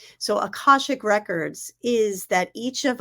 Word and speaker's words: Akashic: you're welcome um what uh what are aash aashik records did I say it right akashic records akashic records so um in in the